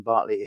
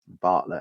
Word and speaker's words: Bartlett: And on it, Ivan Bartley, who was a was an absolutely Bartlett actually is how you pronounce it, was a really really